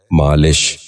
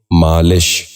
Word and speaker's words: مالش: بھی غور سے سنیے، لفظ۔ پانچواں لفظ ہے مالش۔ یہ غلط تلفظ ہے، درست تلفظ ہے مالش۔ دوبارہ سنیے، مالش۔ بچوں آپ بھی غور سے سنیے، مالش۔ چھٹا